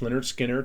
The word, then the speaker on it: Lynyrd Skynyrd: is their fourth album their first self title pronounced leonard skinner second second helping third